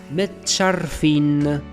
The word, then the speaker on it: متشرفين: So the first one is مت. مت. The second one is شر. شر. شر. And the last one is فين. فين. فين. متشرفين. متشرفين.